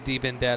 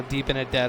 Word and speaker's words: DiBenedetto: too much action already DiBenedetto I do like DiBenedetto now that I've learned how to say his name I used to call him deep in debt oh and I got corrected and now deep in a debt Oh sounds right and I can't ever imagine